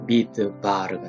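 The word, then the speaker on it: מדבר: 그리고 맨 끝에 레쉬는 발음 부호가 없기 때문에 리얼로 발음합니다. 그래서 바르가 되죠. 미드 바르가 됩니다.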